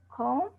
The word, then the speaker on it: comb: Silent B usually comes after an M. Okay, climb, not climb. Climb, comb, crumb, thumb, and tomb. Please say it again.